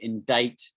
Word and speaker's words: indict: say indictment you say indict indict it's almost like it should be d-i-g-h-t right indict but we pronounce this